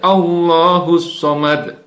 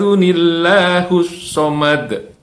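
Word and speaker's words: الله الصمد: pertama jadi seorang Iya salahnya kulhu allohu ahad allahus Somad ini salah kalau memang mau disambung digunakan dengan cara yang benar ya jadi seperti ini kulhu allohu ahad Unila husomad Ah aduh nilai husomad jadi seolah-olah di awal kayak kedua itu ada enam kecil ya di bawah jadi alif lam allahussomad jadi itu ayat pertama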